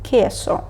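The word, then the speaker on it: queso: Т падре наступна літера Q використовується у сполученнях де у не читається Тобто ми вимовляємо кі та K наприклад кесо далі літера р є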